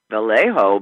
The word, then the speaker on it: Vallejo: Platzer in VA oh is that is that how they maybe that's not Viejo ba ll ej o SE yeh yo Vallejo but I mean it not in any way that it's usually spells it's spelled VA ll e yeah yeah buy a hoe yeah a whole the